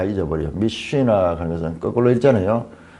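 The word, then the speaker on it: משנה: 미쉬나 하는 것은 거꾸로 있잖아요. 이게 M, 영어로 치면 M이고 이게 S예요. S. 쉬. 이게 N. 이게 흐 발음이에요.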